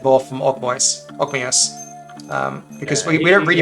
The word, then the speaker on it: Ogmios: Yeah, he's Ogmios, who wrestled with by Talwith Ogmios, who wrestled with it and tore off its head.